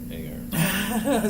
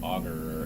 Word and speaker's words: agar: They'd pronounce it some terrible thing like auger or agar. I will never call it auger. I don't care how many people tell me it's technically auger.